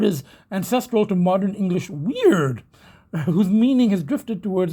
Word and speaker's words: Wyrd: It's actually pronounced more like weird. It's really pronounced like the word we use, like as in, freaky, weird, So the three weird